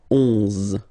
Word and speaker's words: onze: Then 11, 11, okay, so O plus N give you the sound on, onze, onze, okay? Final E doesn't exist phonetically, onze, okay?